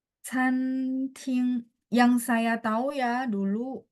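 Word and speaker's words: 餐厅: Tapi kalau restoran, itu ngomongnya Fanguar atau Canting. Chan, ya, C-A-N, bacanya ada angin, Canting.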